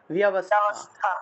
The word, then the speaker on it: ব্যবস্থা: জ ফলা আছে তাহলে ব এর উচ্চারণটা এভাবে ভি এর মত উচ্চারণ হবে এভাবে উচ্চারণটা হবে ভিবস্থা ভিবস্থা ভিবস্থা ব এবং